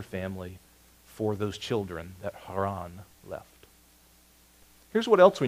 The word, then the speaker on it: Haran: That baby brother's name was Haran. Or if you want to try to pronounce Hebrew, Haran.